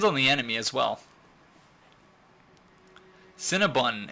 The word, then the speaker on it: Cinnabon: but quite delicious it's c i n n a b o n Cinnabon or I I pronounce It Bun but still need three